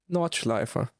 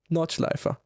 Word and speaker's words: Nordschleife: Nürburgring, Nordschleife. It's not that hard. No. Just remember the E at the end. Same with Porsche, Nordschleife.